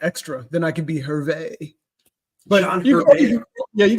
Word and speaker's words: Hervey: That's the French pronunciation.